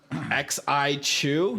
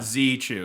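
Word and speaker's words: Xi Chew: X-I Chew? No, Z Chew is how it's pronounced.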